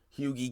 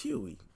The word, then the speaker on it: Hughie: So Hughie, is it Hughie? Huey, it's Huey. Yeah, I remember now. It's Huey. I was about to say, why is it spelled like that? But it's Huey Campbell.